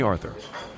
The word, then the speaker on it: Arthur: Call me Arthur. Stress on the first syllable.